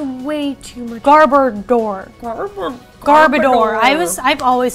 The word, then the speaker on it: Garbodor: that there's a way to the Garber door garbodor I was I've always said it garbage Horace